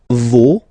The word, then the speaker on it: vos: Okay, so remember, even if you've got this final s, you don't pronounce it, as it was the case already for this word. No, you don't pronounce the final s.